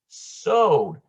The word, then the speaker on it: Sod: Finally, we have the S, P-R-D-S, sod, pronounced with a long O as in lore, and it means secret or mystery, or the esoteric mystical meaning as given through inspiration or revelation.